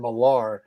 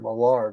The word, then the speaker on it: Millar: let's settle this now i've called him mark uh martin milar for like i don't know 20 years he's mark millar maybe 100 yeah it just adds a little bit more flair to it right we already got one big miller in comic books we don't need another right so let's there